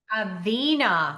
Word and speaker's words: Aina: AA long e sound. Aa healthcare.